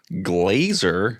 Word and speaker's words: Glazer: Glazer, that's hardly know her. rhymes with Fraser who played Riker on The Next Generation.